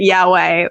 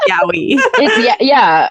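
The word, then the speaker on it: yaoi: So the Californians pronounce it Yahweh, but it's Yowie.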